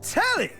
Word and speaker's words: Telly: I'm telly rhymes with jelly.